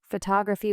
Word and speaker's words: photography: Photography with stress on tog.